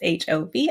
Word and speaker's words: Murashov: I did look up how to pronounce that, and I have already butchered it. So please do look up that spelling. It's Murashov, and I am butchering it as per usual.